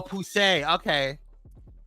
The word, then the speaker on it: Poussey: Oh, Poussey. Okay, that's how you pronounce it.